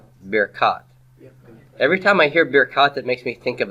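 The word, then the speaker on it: ברכת: So it's bir kat Avram. So baracha became birkat. So say that with me, birkat. Birkat. Every time I hear birkat, it makes me think of a beer cat.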